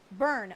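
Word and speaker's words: Byrne: Burn. Oh, it's pronounced Burn.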